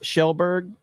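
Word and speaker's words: Kjellberg: name shell who Felix shellberg or whatever PewDiePie's name is that's how that's pronounced is shell shell not Kel no not K shell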